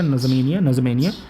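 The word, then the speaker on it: N'Djamena: Chad का capital है नज़मेनिया, याद रखिएगा, प्रोनाउंसिएशन पड़ेगा नज़मेनिया, ठीक है।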